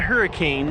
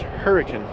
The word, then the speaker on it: Hurricane: now until i get to the town of hurricane not hurricane although it is spelled like that it's pronounced hurricane good morning it's a beautiful day so far